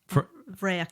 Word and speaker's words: bhfraoich: Okay, and Ross how do you say? Vrek. I Vrek. think it's the flower rose in the heather. Spelled BHFRAOICH. Vrek.